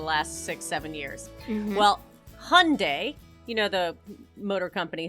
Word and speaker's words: Hyundai: Well, Hyundai, you know the motor company Hyundai? Oh, Hyundai. Is that how you pronounce it?